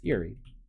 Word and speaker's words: Eerie: else but uh but it's Eerie it's Eerie like Eerie Indiana I okay so maybe